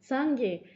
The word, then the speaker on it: Sangye: Sangye. This word has 2 syllables.